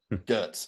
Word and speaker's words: Görtz: Is it Grotz? GZ. GZ. If you want to pronounce it German, it's GZ. Girtz.